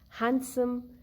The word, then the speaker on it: handsome: Letter D is also silent in words like handkerchief, handsome, sandwich, where we have sound of soft A in the beginning, but the sound of letter D is not heard later. So D is silent.